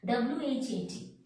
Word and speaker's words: what: See, first let me give you examples, silent H. W-H-A-T, what? What is your name? We are telling where, at, and. No. What? When H is silent.